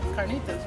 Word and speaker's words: carnitas: And carnitas, right? I got carnitas. You have to say it like that. Carnitas.